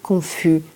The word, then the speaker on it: confusément: on va avoir besoin besoin d'un accent pour la prononciation donc on va dire confusément d'accord confusément c'est comme brièvement